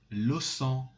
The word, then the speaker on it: sang: this word los sang don't say los angelo song these pronunciations are not good they are not correct you must say lo son lo son this word this letter at the end of this word is not pronounced at all so you must say